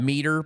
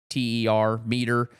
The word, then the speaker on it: MEATER: It's called meter, but it's spelled MEATER, meter.